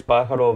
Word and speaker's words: Pájaro: But now let's go to NorCal as we have one of the newcomers, Pájaro Valley United FC, off to a 3-0-0 start.